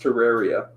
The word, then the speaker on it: Terraria: a half an hour it is pronounced terraria what i don't it okay